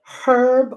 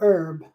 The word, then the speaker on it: herb: Do you pronounce the H in Canada? Is it herb or herb? Feel like we should almost be on a Zoom call and it' be easier, right? You say herb.